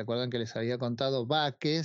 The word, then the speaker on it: bake: que les había contado baque se escribe como Bakery miran con las panaderías